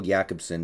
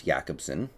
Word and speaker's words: Jakobsen: So Jakobsen, and I'm using the pronunciation that I believe is appropriate if he is indeed Swedish with that name, so I think it's Jakobsen, is trying out as a tight end, so it would seem.